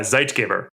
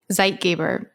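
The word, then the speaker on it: Zeitgeber: German okay so it's a German word yeah zeit gabber zeit gabber so zeit Giver is a a German word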